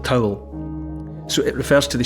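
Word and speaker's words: teabhal: Irish Gaelic word that's spelled t-e-a-b-h-a-l but it's pronounced more or less like towel so it refers to the shape of the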